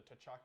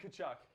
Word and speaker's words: Tkachuk: You include the T in Tkachuk. What, I said Tkachuk? I said Tkachuk. You don't even know what you said now. I meant to say Tkachuk. Yeah, no, Tkachuk.